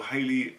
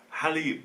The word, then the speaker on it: Halle: was actually very enjoyable Hayley and I get this name wrong again I like Hallie Bailey is actually very